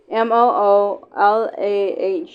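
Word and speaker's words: rémoulade: Remoulade is how it's spelled, but it's pronounced Remoolahd.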